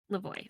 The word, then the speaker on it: Lavoie: Lavoie.